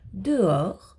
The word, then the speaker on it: dehors: Dehors, véhicule. Le H ne fait pas de bruit, il est aussi muet ici.